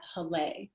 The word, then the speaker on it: Haleh: some people you know hane is my name that's how it's pronounced in farsi but my non-persian friends know me as helle and there's a little